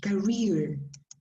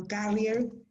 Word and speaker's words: career: Be careful with the pronunciation of this word, career. Yeah. Career. Career. More or less, this is the, let me see. Career. That is no carrier. It's another thing.